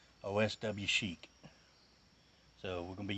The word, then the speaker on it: Oswchic: I googled this and it said you pronounce that Oswchic. Oswchic.